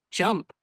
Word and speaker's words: JMP: mentioned the analytics package jump that he learned which was key like what is that and where is it used Ran's probably referring to JMP pronounced jump which is a statistical